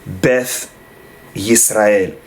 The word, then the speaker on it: Beth Israel: that is because uh beth israel is spelled with a tough without the dagesh and so according to the the safari pronunciation in some communities they would say beth israel so the english beth